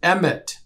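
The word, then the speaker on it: אמת: be placed the letters Aleph Mem Tav, which is pronounced Emet. So Aleph can either be an A sound or an E sound.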